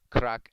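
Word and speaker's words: craic: all say it's it's good crack crack is spelled c-r-a-i-c that's like a good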